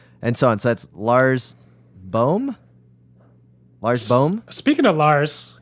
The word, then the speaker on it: Lars Boom: he never will be Lars boom is pronounced with a very long ooh as in bore for